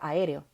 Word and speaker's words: aéreo: Otro ejemplo de esto podría ser la palabra aéreo, que tiene tilde en la E. ¿Sí? A, E, R, O. Tiene 4 sílabas a pesar de que es una palabra pequeña. Y es porque tiene 4 vocales abiertas.